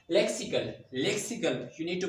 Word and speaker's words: lexical: There is no z sound. There is sa sound. Lexical.